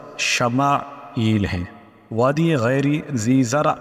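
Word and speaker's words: ישמעאל: یہ نام رکھا گیا۔ عبرانی میں اس کا تلفظ شمائیل ہے۔ وادی غیری ذی زرع اور حاجرہ و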